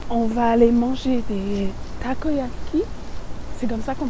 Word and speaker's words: takoyaki: magique donc là on va aller manger des takoyaki c'est comme ça qu'on prononce on va essayer de pas se faire